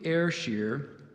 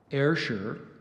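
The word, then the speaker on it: Ayrshire: pronunciations yeah there's two so I gave you air shear there's also see air sure and Asher let me do let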